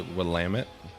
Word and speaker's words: Willamette: See, yeah, I pronounce it the Rowdy Pierce way, Willamette.